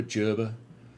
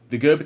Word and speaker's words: Gerber: And the pronunciation of Gerber as well is something that came up in Discord. Gerber, Gerber, Gerber. Who knows? I think it's a German guys. So I have always said Gerber.